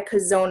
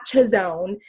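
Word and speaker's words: Chazown: pastor craig rochelle and cos own is actually and it's spelled CH AZ o WN and it's so funny because they're like it's not chose own and they were making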